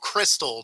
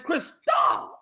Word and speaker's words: Cristal: With your takes, I'm thinking you want a bag of Crystal. Not, I think you're just saying it wrong. I said Cristal. The way it's supposed to be said is Cristal.